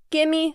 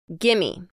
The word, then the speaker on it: gimme: Gimme. Gimme is an informal contraction of give me. Gimme. Gimme. It's how we say give me when we're speaking quickly.